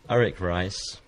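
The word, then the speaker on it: Arik Reiss: himself as well what is your name sir eric rice eric rice now it's not spelt the way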